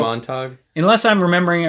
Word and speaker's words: Montag: saying Montag?